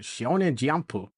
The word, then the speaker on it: Shonen Jump: He put a little extra stink on Shonen Jump, pronouncing it Shonen Jumpu, to establish his dominance as alpha nerd.